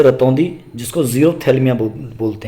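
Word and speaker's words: xerophthalmia: रा से रतौंधी, जिसको ज़ीरोप्थैल्मिया बोलते हैं। एक बात ध्यान रखना, ये जो शब्द ज़ीरोप्थैल्मिया है, इसकी एक्स से स्पेलिंग शुरू होती है, XERO, ठीक है ना, ज़ीरोप्थैल्मिया। इसमें पी साइलेंट होता है, THLYMIA, ठीक है ना, जीरोप्थेल्मिया।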